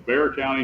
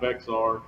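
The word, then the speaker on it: Bexar County: it there and uh it's bear county not vexard yeah well that yeah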